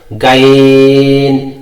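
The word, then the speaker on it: غ: অনেকে উচ্চারণ করে এভাবে গাইন, গাইন হবে না, এটা পুর হবে, মোটা হবে, গইন।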